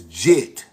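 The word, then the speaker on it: Djet: Egyptologist pronounced his name as Jet.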